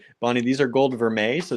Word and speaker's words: vermeil: you learn it and it's not even spelled like how you think it's spelled it's called it's spelled like Vermeil Vermeil did I spell it wrong v-e-r-m-e-i-l yeah French how do you say Vermeil is not that's how you say it in French I know but it doesn't look like it when you write it out you're like what's the